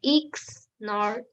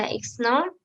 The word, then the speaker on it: XNOR: e x nor or n x or and pronounce it as exclusive nor is a digital logic gate whose function is